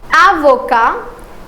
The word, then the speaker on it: avocat: And not only the spelling will change in profession but the pronunciation will also change. So this one the first one is avoca and this one is avocat.